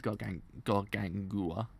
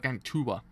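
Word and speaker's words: Gargantua: Oh, it's got gang Tua. Okay. I thought it's got Gangua. I didn't know it's actually a T in it.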